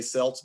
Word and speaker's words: Celts: in what's now france the gulls were also known as the celts we would like if if we said it right the nba franchise would be the boston celtics but it's the celtics well we say celts but it was the celts they were a germanic